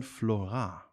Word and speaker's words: Florant: and today we have with us Mr Fabian Flora thank you very much it's a very good pronunciation yeah French um damn we have to